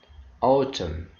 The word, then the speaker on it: autumn: eight silent letter n n is not pronounced when it comes after aim at the end of the world examples autumn column damn condemn now